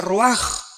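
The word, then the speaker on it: רוח: Aquí se usa otra palabra hebrea, que se escribe ruach, con R de Raúl, A-C-H, se pronuncia ruach.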